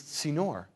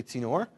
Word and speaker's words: tzinor: And the Hebrew word for this is tzinor. Say tzinor.